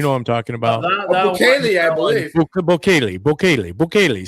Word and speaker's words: Bukele: Bukele, I believe. Bukele. See, I say it with a little Spanish accent. Bukele.